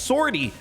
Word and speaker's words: 50R-T: when you look up 50rt which is pronounced sortie as they say you just find a